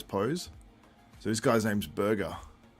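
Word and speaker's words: Burga: So this guy's name's Burger. Burger Keskin. It's spelled B-U-R-G-A.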